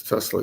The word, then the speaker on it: Tesla: what is he talking about I know Nia Telsa Issa test Telsa it's wait a minut his name is pronounced it's not Tel isn't a Tesla Tes it's Tesla yeah he was very smart very smart guy